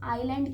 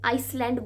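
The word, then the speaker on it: island: Comment में बताइएगा कि आप में से कितने लोग आइलैंड की जगह इसे आइसलैंड बोलते हैं या बोलते थे। मैं भी पहले बिकॉज इसे आइसलैंड प्रोनाउंस किया करती थी।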